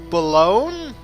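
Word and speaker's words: Boulogne: be pronounced okay okay so in French GN represents the palatal nasal and most letters when word terminal are silent ouu is a Digraph so that's pronounced B so balone maybe I don't know French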